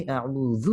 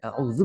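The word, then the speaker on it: أعوذ: जैसे दुआ यहाँ पर है अल्लाहुम्मा इन्नी अऊज़ु बिका, यहाँ ज़ाल है, अऊज़ु बिका अन अज़िल्ला, औ उदल्ल औ अज़िल्ल औ उज़ल्ल औ अज़लिम औ उज़लम औ अजहल औ युजहल अलई।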